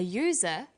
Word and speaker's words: user: an umbrella but a user because user sounds like it begins with a y a and an are